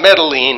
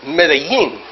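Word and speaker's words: Medellín: By the way, you don't pronounce Medellin right. Okay. It's not Medellin, it's Medellin, right?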